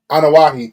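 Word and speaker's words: Anoa'i: how do you say the family name anahi anahi thank you it took you a minute to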